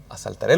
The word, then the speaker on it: asaltaré: Eh pasa en algunas canciones, por ejemplo, con mi Dios, yo asaltaré los muros, dice la palabra, pero lo pronunciamos mal. Decimos, "Saltaré los muros."